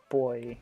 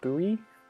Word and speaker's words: buoy: We say boy, I think Americans say buoy, which I don't know where the O is in that word. But we're just saying boy, so I don't know where the U is.